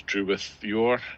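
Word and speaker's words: Drúedain: No, it's Drew rhymes with crew, with rhymes with scythe. So that'll be Wythe with scythe, and your rhymes with sour.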